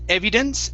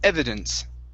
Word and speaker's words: evidence: end reconcile reconcile good let's practice the short short i sound so instead of evie evidence it's ever evidence evidence okay very nice uh next